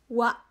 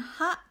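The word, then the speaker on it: は: Wa, ya, karena ini tunggal, jadi bacanya bukan H, tapi wa.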